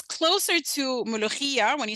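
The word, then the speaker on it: mulukhia: cooked this amazing dish called mulugia and it's just m-u-l-u-k-h-i-a right but of course is a difficult sound if you don't have a mother tongue that that pronounces that sound so she and her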